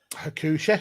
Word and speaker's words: Hakushi: Is that how you pronounce it? Hakushi, yeah.